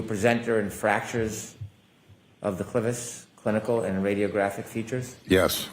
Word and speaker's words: clivus: Were you a presenter in fractures of the clevis clinical and radiographic features? Yes. Am I pronouncing that correctly? Clus.